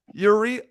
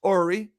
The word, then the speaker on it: Uri: bye okay that was Yuri Ori and I did a Goldman there I said his name wrong Jackie as uh I say goodbye to him it's actually pronounced Ori so just want to